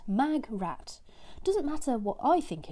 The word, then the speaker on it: Magrat: pronunciation pronunciation the pronunciation Terry Pratchett is quoted to have said my greatest regret pronounced mag rat doesn't matter what I